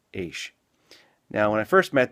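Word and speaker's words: Eash: Their last name was a name with just 4 letters, E-A-S-H, and it was pronounced Aish.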